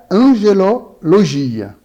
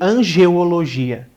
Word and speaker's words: angelologia: O que significa angelologia? Certo. Logia, então, né? Sempre é a lógica, né? Muita gente acaba falando errado o nome dessa disciplina, né? Chamando de angeologia. Angeologia não é a pronúncia correta, porque angio vem de coração, de coronárias.